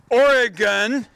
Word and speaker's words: Oregon: Oregon, everybody's got that pronunciation.